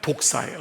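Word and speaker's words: δόξα: 헬라로는 여러분이 표현이 그냥 발음대로 하면 독사예요. 독사. 헬러말로 영광의이 뱀이 아니라 독사요. DOA예요. DOA. 이게 이제 음역으로 영어로 딴 건데 DA예요. 독사.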